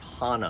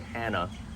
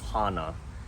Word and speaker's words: Hana: Hana and it's pronounced Hana I've heard people say Hannah it's not Hannah going back to the uh oh it's ah so it's Hana and it's one of